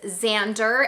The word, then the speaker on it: Xander: And I have a son whose name is Xander and he is 5. Now I should say Xander is spelled with an X, and I say that